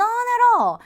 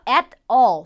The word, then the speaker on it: at all: 여기서 at all 두 번이나 나오니까 발음 한번 짚고 넘어갈게요. at all, at all. 제가 이렇게 발음하지 않았죠? 원어민들은 이 부분을 at all, at all 이렇게 발음을 합니다. 북미권 발음의 특성 중에 하나예요. 영국식으로는 at all, at all 이렇게 발음을 하니까 참고로 알아두시면 좋겠죠?